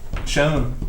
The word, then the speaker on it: Shon: Shon. There, we can call you Shon. Miade. Your name is spelled S-H-O-N.